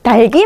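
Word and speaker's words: 닭이: 모음으로 시작하는 형식 형태죠 그럼 제가 하는 거죠 어머 그렇게 달기 맛 있으셨어요 이렇게 해야 되는 거예요 예 닭기 맛있었어요 이렇게 하면 안 됩니다 그래서 우리가 표준 발음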